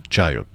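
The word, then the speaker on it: chayote: Some pronounced it some pronounce it, but it's chiote.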